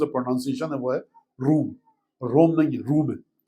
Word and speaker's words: روم: میں بتا چکا ہوں عربی میں جو تلفظ ہے، پروننسیشن ہے، وہ ہے روم.